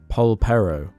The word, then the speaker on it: Polperro: Polperro.